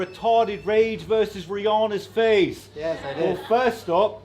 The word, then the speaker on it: Rihanna: __ ] rage versus Rihanna's face the first stop is pronounced Rihanna that's a fact and second my girlfriend's